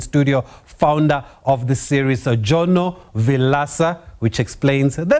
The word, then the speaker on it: Jono Vilaca: It's 2025, and to find out more about this popular form of racing, we've roped in studio founder of the series, Jono Vilaca, which explains the name of the motor racing series, right, Jono?